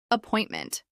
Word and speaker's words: appointment: Appointment. This is pronounced with stress on the second syllable.